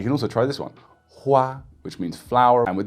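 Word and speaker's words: 花: Hua, which means flower.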